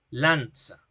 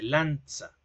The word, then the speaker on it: lanza: Lanza. Como una T y una S. Lanza.